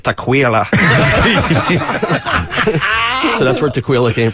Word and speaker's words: Tequila: she came in and on her driver's license it was spelled tequila t e quu i l a it's never been pronounced any other way so when I said hey tequila can I get your Social she goes it's tequa so that's where Taquila